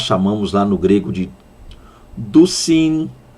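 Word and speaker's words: δυσίν: Há quem pronuncie dizin ou dissin, martissin ou martissin, ok? Vamos lá, lembrando que pronúncia grega é sempre um problema, é sempre uma dificuldade, mas então dousin ou dissin, da ideia de duas, e aí martusin ou martissin, como alguns pronunciam, da ideia de testemunhas.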